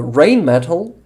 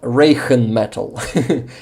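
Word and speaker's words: Rheinmetall: in school so I remember that rain metal is not Reagan metal that H sounds like uh yeah like soft it softens the sound perfect pronunciation perfect uh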